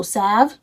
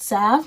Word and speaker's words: salve: They said think of have. So salve, is it salve? Is that how it's pronounced?